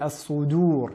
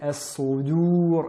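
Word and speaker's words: الصدور: Nous avons souvent tendance à les entendre prononcer de manière emphatique al-qubur, mais bien al-qubur et as-sudur et non as-sudur.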